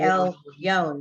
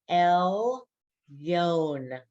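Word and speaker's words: עליון: Well, Okay, the L is a syllable. The Y has the vowel next to it, the O vowel, and the final N. So it's El Yon. wow. Elyon. See it? And it ends in an N.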